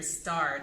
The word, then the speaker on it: starred: ending in the sound, which is voiced. So then we would have to, for that ed ending, pronounce it as a D. So I can say, Robert Downey Jr. starred as Iron Man in the Avengers series.